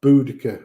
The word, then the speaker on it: Boudica: And yet, people like Queen Boudica or Boadicea, however you want to pronounce it, in the time of, the Queen of the Iceni, absolutely loved and adored by their people.